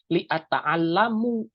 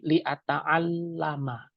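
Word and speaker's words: لِأَتَعَلَّمَ: Jadi bukan bacanya li'ata'allamu, tapi karena ada lam jadi li'ata'allama. Seperti jitu li'ata'allama dan bukan li'ata'allamu.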